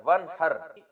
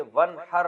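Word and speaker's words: وانحر: तो वन असल में था व इन हर पढ़ा जाता है मिला के वन। अलफ़ साइलेंट हो जाता है। वन हर आप नमाज़ पढ़ ये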